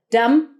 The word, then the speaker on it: dumb: Dumb. No B. Dumb. Close it with an M.